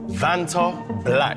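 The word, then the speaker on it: Vantablack: 2024 that's kind of clean though black again vant black that's what it is that's actually how you pronounce it that that's how you say it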